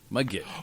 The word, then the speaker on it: Mudgett: Mudgett. Oh, And I'm dude, pronouncing it right, folks. dude, Mudgett.